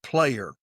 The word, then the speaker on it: Plair: His last name is Player, but it's spelled Plair.